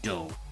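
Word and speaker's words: dough: will say it's Duff even though Duff isn't pronounced Duff t-o-u-g-h-d-o-u-g-h is pronounced do which just shows how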